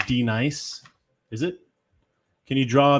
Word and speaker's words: Denise: It's pronounced D nice.